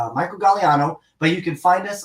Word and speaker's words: Gagliano: asking what my actual name is it's Michael gallano but you can find us on Sidekicks paranormal